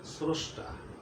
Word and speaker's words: স্রষ্টা: আমার নিয়মটা হলো এরকম, যে শব্দের প্রথমে রফলা থাকলে ওকারের উচ্চারণটা ওকারের মতো হয়ে যায়। এখানে শব্দের প্রথমে যেহেতু রফলা আছে, এই জন্য এটার উচ্চারণের বেলায় আমরা উচ্চারণ করি স্রষ্টা।